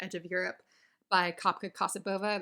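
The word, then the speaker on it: Kassabova: of europe by kapka casabova that's anglicized kasabhava would be the bulgarian pronunciation i think kosovo uses a mixture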